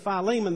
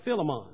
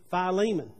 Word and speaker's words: Philemon: some of them are difficult to uh to pronounce uh some of the other people called it uh instead of philemon they call it philemon so that's what a lot of people grew up but it's actually philemon i took new testament studies at duke under